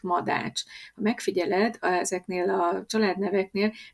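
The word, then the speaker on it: Madách: Madács, ch a cshang.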